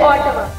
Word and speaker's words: Ottawa: Today's word is Ottawa, which is the capital of Canada, and its correct pronunciation is Ottawa.